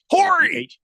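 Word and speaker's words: Horry: is it Hy it's Hy Hy the H is silent but I said it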